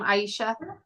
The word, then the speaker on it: Aisha: one second all right Aisha is that the correct pronunciation name Aisha yeah okay we need to